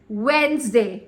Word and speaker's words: Wednesday: day it is Wednesday Wednesday say it properly Wednesday correct did you see the latest Mimi uhuh